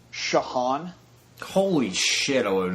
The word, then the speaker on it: Ciochon: Ciochon.